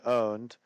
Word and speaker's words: pwned: The other one that's a little bit more customized is have you been pwned or have you been owned, as it's actually pronounced.